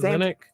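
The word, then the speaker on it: Zanik: Zanuck.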